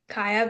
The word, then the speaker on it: Kaja: Kaja. Yeah, but the Y is pronounced as a J, so it's just Kaya.